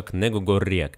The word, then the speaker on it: Negu Gorriak: самом конце словосочетания например название одной баскской музыкальной группы произносятся к книгу гарет и приводится как красные